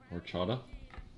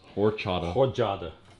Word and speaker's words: horchata: pumpkin scent rim chipotle horchata yes horchata or chat i think it's actually pronounced you don't say the h you say or of course we use